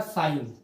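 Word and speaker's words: sine: पहला रहेगा आपका साइन, दूसरा आपका रहेगा कोस। क्या पढ़ेंगे इसे? साइन, ठीक है, क्योंकि इसकी स्पेलिंग इस तरह की रहती है, शॉर्टकट SIN लिखते हैं ना, साइन है ये दूसरा है कोस, तीसरा जो बनेगा आपका टेन।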